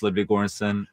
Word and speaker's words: Ludwig Göransson: My name is Ludwig Göransson.